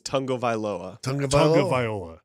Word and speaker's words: Tagovailoa: No, the correct pronunciation is Tagovailoa.